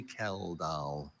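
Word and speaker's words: Kjeldahl: Are there any alternative pronunciations? I have only Kell.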